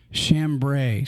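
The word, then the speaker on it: chambray: actually sharing a mic and it's is that chambre oh shamb I see the pronouncing go ahead put it put it up there shamb shamb shambre so shambre is spelled c h m b r a y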